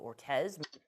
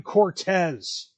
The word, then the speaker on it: Cortez: and congresswoman Alexandria Casio Ortez she said her name wrong there's a c in Cortez Alexandria Casio Cortez Cortez